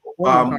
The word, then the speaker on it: Omaha: Omaha. Omaha. Yeah, Omaha, you mean?